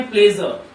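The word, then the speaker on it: pleasure: Good morning everybody, it's माय प्लेजर, आर का silent कर देना है, आर के पहले वॉवेल है।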